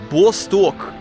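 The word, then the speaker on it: Восток: Excuse my pronunciation, guys, but this is called the Vostok, and it is the real rocket. So right there, it says B-O-C-T-O-K. So I guess the C in Cyrillic is pronounced S, but if you read that in English, it just says Boktok.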